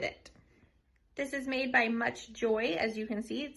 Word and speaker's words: MCCHJoy: vent or on the dash again this is pronounced much joy so this is the portion right here you